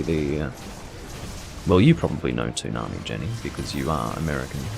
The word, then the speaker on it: Toonami: I believe it would actually be correctly pronounced Toonami, based on the fact that it's a Japanese word and it's T-double-O, so that would be Toonami.